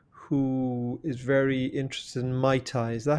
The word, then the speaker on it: Muay Thai: I have a son who lives in London who is very interested in Mai Tai. Is that how you pronounce it? Yeah, Muay Thai.